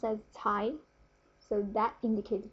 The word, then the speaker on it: 才: So the whole character, the 才, this character is pronounced as 才. Okay? Because it's really hard to type, I have /2, which means it's second tone. It goes up, 才.